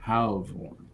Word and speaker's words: Halvoran: Halvoran is how it's pronounced.